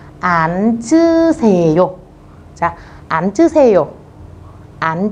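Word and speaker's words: 앉으세요: Theo như quy tắc cô nói, chữ N giữ lại chữ chờ các bạn bắn lên trên. Vì vậy từ này sẽ đọc là án chư xề yô.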